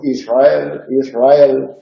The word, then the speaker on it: Israel: Cuando la R va precedida de S sufre un reglamiento, y así cuando decimos Israel, la R no vibra. Es parecido al Killo, Israel.